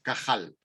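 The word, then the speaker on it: קהל: convocatoria ellos lo hebreo pronuncia una palabra que es cajal y cajal igual que ramón y cajal pues esa palabra cajal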